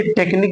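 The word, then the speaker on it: technique: pronounce नहीं किया जाएगा ऐसे टेक्निक में देख लीजिए टेक्निक में क्यू यू और ई एक साथ पा लिए गए हैं और लास्ट में है तो हम यू लेटर को नहीं पढ़ेंगे ठीक है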